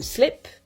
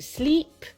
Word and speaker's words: sleep: To slip, ça veut dire glisser. To sleep, ça veut dire dormir. Slip, sleep. Vous entendez la différence? C'est la même différence qui existe entre it et eat.